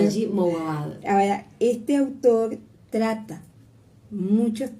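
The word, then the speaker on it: Wajdi Mouawad: voy a pronunciar bien, Wahi Mouawad. Sí, difícil. Me decía Betty, ella lo dice perfecto. No. Dice. Es difícil decir Wahi porque no se sabe, hay una J, una claro. Wahi Mouawad.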